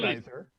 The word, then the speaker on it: geyser: Actually, it can be pronounced both ways, geyser and geyser.